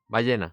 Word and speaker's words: ballena: Ballena.